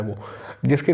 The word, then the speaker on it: Ouija: देखिए, वीजी board उसकी जो स्पेलिंग होती है आपकी होती है OUIJA, तो इसको वीजी बोर्ड बोलते हैं, बट इसलिए इसकी स्पेलिंग ही है।